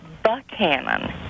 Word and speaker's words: Buchanan: My question is, why is his last name incessantly mispronounced? His name is Buchanan.